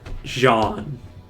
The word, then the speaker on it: Jean: than this Outpost leader Jean and yes I know it could have I could have just pronounced it John but like clearly is Jean because the